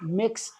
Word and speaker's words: Mx: supposed to be pronounced mix seagull. So, for pronunciation, MX is pronounced like mix, like you're mixing things together. So, it's mix seagull.